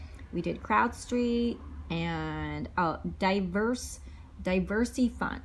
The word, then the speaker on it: Diversy Fund: We did CrowdStreet and diverse Diversey Fund. So it's spelled Diversy Fund, and it's not for diverse people. It's just called Diversey Fund, and it's pretty new crowdfunding, and they offer good rates and returns.